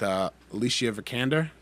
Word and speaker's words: Alicia Vikander: So we're getting one with Alicia Vikander.